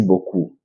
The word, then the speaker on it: beaucoup: sorry when you see a word in French that end the consant P mostly not pronounc merci beaucoup ok merci beaucoup beaucoup